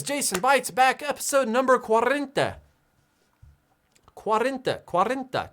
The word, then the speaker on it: cuarenta: say 40 in spanish in spanish 40 is cuarenta well guys that is jason bites back episode number quarrenta quarenta quarenta cuarenta quarrenta quarrenta episode numero